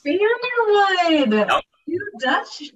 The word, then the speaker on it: Vanderwood: Yeah, it's Vanderwood. You were really close. Vanderwood.